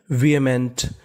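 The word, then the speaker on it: vehement: वी क्या पढ़ेंगे वी और इस मीनिंग में हमें एच का उच्चारण नहीं करना हमें हमें खाली ए का उच्चारण करना है। वी एम इ एन टी इसे पढ़ते हैं। मेंट तो पूरी मीनिंग बन गई विमेंट।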